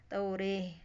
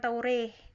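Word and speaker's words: التوراة: dengan dua cara yaitu dengan e Sunda yaitu dengan tauri tauri tapi bukan taure bukan taure bukan majareha bukan pakai e yang asli tapi dia agak miring sedikit banget ya tapi taure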